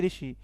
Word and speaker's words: ऋषि: बात करते हैं तो ऋषि ऋषि इसका मूर्धा से उच्चारण होता है मूर्धा या हां